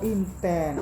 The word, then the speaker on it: Intan: itu mas intense so intense info kepintaran itu belakang rumah saya di Hi Ho oh Bu Intan adbm internet itu ya intense kalau dibacanya Intan apa Inten begini Inten Insan Jawa Intan rojobrono artinya